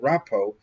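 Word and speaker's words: רפא: Now, the word rapo has the letter pe in it. It's the letter that is equivalent to the English letter P that has a dot in it.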